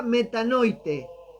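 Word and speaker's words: μετανοεῖτε: Se pronuncia metanoite y su significado literal va más allá de sentir culpa.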